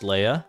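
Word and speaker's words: Leah: Bro, it's pronounced Leia.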